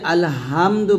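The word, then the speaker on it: الحمد: আলহামদু, তো এই যে আলহামদু বলি, এই যে হাটাকে হা বলি, বা এটা হচ্ছে হার উচ্চারণ, এটা চাপ দিয়ে বলতে হয়, তো এটা হবে আলহামদু বলতে হবে, হাটা চাপ দিয়ে বলতে হবে।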